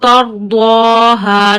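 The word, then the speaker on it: ترضاها: before ra sakin, you read ra with a thick voice. Dwad is also a thick voice letter and stretch dwad because of vertical fatha on it up to one finger.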